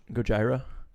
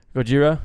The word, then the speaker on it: Gojira: well look fun fact they got their name from like the mispronunciation of Godzilla you know you speak with your ax yeah Gojira yeah you see it